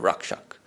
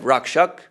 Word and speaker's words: Rakṣaka: Some people have wondered, why Rakṣaka instead of Rakṣaka? Because in the Bengali vernacular, when the S comes after K, then the S is pronounced like an H. Instead of Rakṣaka, you get Rakṣaka, Bhakti-Rakṣaka.